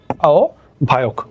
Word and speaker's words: আহ্বায়ক: তো একটু খেয়াল করো, তাহলে আহ্বায়কের উচ্চারণটা কিরকম, তাহলে আমার এখানে সরিয়া আছে, সরিয়ার পরে আগে আমার একটা ও চলে আসবে, আর হয়ব এর পরিবর্তে আমার ভ চলে আসবে, তাহলে ভ চলে আসলো, তারপরে কি অন্তস্থ অ ক, আও ভায়ক।